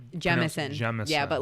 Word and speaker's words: Jameson: So I was corrected when I was over there that we as Americans say Jameson, but it is Jameson whiskey. So it's a low Long A or long E.